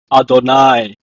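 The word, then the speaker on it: אֲדֹנָי: of God's name so whenever I see you he I will pronounce it as Adonai so the word of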